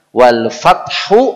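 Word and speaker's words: وَالْفَتْحُ: Kita biasa baca atau dengar wal fat saja. Berhenti pada huruf T. Wal fat. Ya, atau ditambahin S wal fat. Ini kekeliruan yang besar. Karena tulisan wal fat adalah wal fathu. Sehingga akhir suara kita huruf H.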